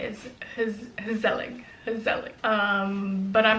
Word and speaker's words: gezellig: Gezellig. But the G is more guttural than that.